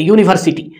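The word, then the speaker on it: university: अब हम उच्चारण करें यूनिवर्सिटी, यहाँ पे यू आएगा, ऐसे आएगा, देखिए यू, यू क्या है, ये कॉन्सोनेंट है, तो यहाँ पे आपको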